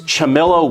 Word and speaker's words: Ciamillo: hobby to professional level that's great it is chamilo Woodworks it's spelled c i a m i l l o Woodworks that's your last name l chamello so L when did you start this did